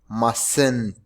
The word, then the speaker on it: mustn't: go right now and the negative form is muscent look at the correct pronunciation muscent and we use muscent